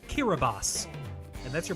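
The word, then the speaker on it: Kiribati: aie wrong what a fool I am it's pronounced kirbas and that's your pronunciation lesson for the day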